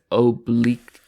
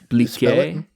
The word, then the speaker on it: oubliette: I think it's, I don't know how to pronounce it. I think it's oblique. Oubliette.